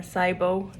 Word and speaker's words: SIBO: who maybe struggle with sibo as well or cybo as the us friends um pronounce it day three and i